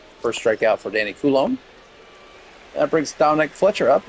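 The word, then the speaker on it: Coulombe: So So I got the So it's Danny Koul. Okay. Koulom. Danny Koul then. Sorry, Danny. Forget your name wrong.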